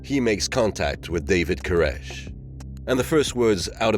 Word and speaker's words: Koresh: He said, my last name is like that last exhalation of breath, a death knell. It's Koresh.